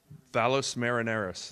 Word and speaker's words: Valles Marineris: Mars Valley it's called in Latin I can't pronounce the word Valles Marineris thank you so it's been scanned in really